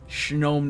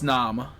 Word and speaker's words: Snom: I don't think it's pronounced like no. Me neither. Me neither. Snow. Me neither. But it's snow, so it kind of made sense. So Snom, gnome. But that's, I think it's Snom, like Nam.